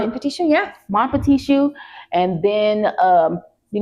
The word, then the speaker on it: Mon-Petit-Choux: So you guys can check that out, and also check out Maribelle Cakery, Mon-Petit-Choux. Did I pronounce it right? Mon-Petit-Choux, yeah.